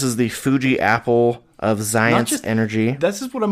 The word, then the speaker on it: Xyience: It actually says on the back, it's pronounced Science. It's spelled Xyience.